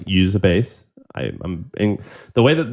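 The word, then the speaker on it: Uzabase: um a Japanese company that I love called usab base and I uh usab base what's it called yeah it's a publicly traded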